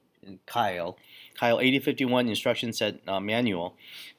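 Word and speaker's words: Keil: And the Kyle or Kyle, depending on how you pronounce it, I think it's German, so it's Kyle.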